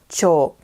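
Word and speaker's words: 長: a couple of examples thus main radicals pronunciation in most instances is cho like in kocho which means headmaster but if you consider the word kincho which is to be stressed the pronunciation remains the same even though the radical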